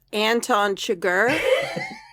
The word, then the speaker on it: Anton Chigurh: Jeff, it's pronounced Anton Chigurh.